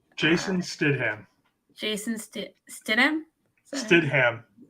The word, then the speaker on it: Stidham: guy his name Jason Stidham Jason Statham Stidham it might be pronounced a little bit Steed ham but I I'm just going off how it's spelled s-t-i-d-h-a-m Stidham yeah so um yeah